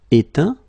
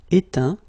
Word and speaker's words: éteint: Éteindre, éteint. Feindre, feint. peindre, peint, teindre, teint. Okay, as usual, final T not pronounced. Atteint, éteint, fin, peint, teint.